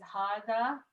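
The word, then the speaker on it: هذا: as well yes so hada is pronounced as harda even though it doesn't have an alif after the hay but it is written without the first ali yep arabic has no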